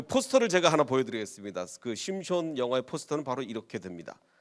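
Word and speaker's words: שמשון: 되서 3선 영화를 만든다면 그 삼손의 원래 발음은 뭐라고 그랬죠 히브리어로 심 숀 이렇게 됩니다 심 숀 그래서 제가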